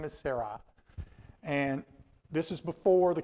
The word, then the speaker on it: Sarai: So Sarai was the one that gave the most pronunciation. So her name is Sarai, and this is before the covenant.